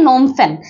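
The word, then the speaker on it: Phnom Penh: স্পেলিংটা হচ্ছে গিয়ে অন্যরকম আমরা প্রোনাউন্সিয়েশন যেমনই করেন না কেন সেটা হচ্ছে নোমের আগে একটা পি বসেছে ঠিক আছে পি এইচ পি এইচ এন ও এম নোম ঠিক আছে এটা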